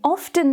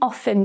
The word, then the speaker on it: often: You can say, I often drink tea, or I often drink tea. You can pronounce it with the T or without the T. Both ways are correct.